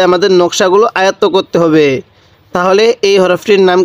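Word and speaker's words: ت: নকশাগুলো আয়ত্ত করতে হবে তাহলে এই হরফটির নাম কি আলিফ এটার নাম বা এই হরফের নাম তা এই হরফের নাম ছা জিহ্বার আগাটা উপরে মালির দাঁতের সাথে লাগিয়ে দিব তাহলে তাটা সহি উচ্চারণ হবে আর ছাটা একটু নরম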